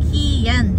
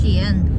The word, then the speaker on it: Skien: properly it's not it's ki yen it's xi'an because the k is followed by letter i we had some american